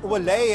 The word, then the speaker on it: Willeit: from the start line Cherise valet I've been told is the correct pronunciation of a surname having married I suppose